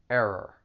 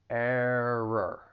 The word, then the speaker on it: error: challenging on its own the word has two syllables has those two r sounds just remember that the stress is on the first syllable error error trial and error and